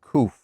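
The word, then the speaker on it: Qoph: That's pronounced Kuf, like K-O-O-F, Kuf.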